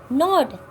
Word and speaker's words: gnawed: Nod, we have already discussed this word. G will be silent and the pronunciation will be nod. Gnawed, nod.